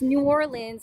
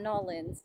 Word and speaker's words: New Orleans: And it's New Orleans, not Nolans, because that's how they say it there.